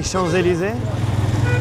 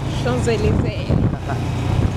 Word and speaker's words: Champs-Élysées: to France, it will be maybe Champs-Élysées.